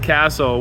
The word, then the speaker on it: castle: learning how to spell the word castle with the silent t uh you know was